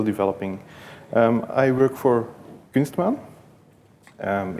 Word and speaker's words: Kunstmaan: about uh kman CMS bundles uh also it's pronounced kman uh quite a hard word for most of